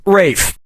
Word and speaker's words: Ralph: is yep Ray finds first name is spelled like Ralph but pronounced Rafe and his brother Joseph